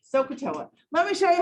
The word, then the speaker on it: SOHCAHTOA: heard of the word sokatoa no no one's ever heard of that word before sokatoa sokatoa soak a toe like you're literally like you're gonna soak your toe in something socatoa let me show you